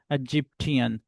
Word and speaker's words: Egyptian: Japanese, Sudanese, Egyptian, where tian comes, you will stress on tian.